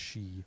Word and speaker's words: Hsu: I should say H Hsu yeah but it's pronounced she okay I finally she was working for safety